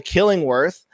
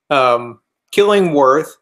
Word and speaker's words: Killing Wirth: He is the creator of a Kickstarter called The Killingworth. Did I pronounce that right, Lonnie? Yeah. Killingworth. And that's awesome. That's spelled with an I instead of an O.